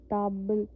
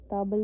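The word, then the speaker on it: table: ताबल ताब ताब अ की आवाज़ आ रही है ना ताब ताबल नहीं है यह ताब है ठीक है तो ऐसे इसको प्रोनाउंस करेंगे इसका मतलब भी टेबल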